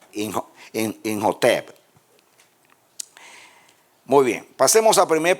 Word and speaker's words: Imhotep: en Egipto como Amenhotep, van a ver que la H es como la J, ¿no? Imhotep.